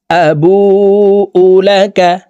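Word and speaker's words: أَبُوءُ لَكَ: পড়বো আবু উলাকা আবু এই বু এখানে এক আলিফ টান পেশের বাম পাশে জেজমা মদের হরফ ডানদিকের হরকতকে এক আলিফ টানিয়া পড়িতে হয় আবু উলাকাবিতিকা আলাইয়া আবু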